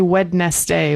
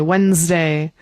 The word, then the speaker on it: Wednesday: Yes, we don't say wedest day. Wednesday. It happens a lot.